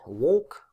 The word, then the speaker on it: walk: answers if you wish so walk quite the easy one to understand that the cool sound doesn't appear it's not there at all similarly with the ear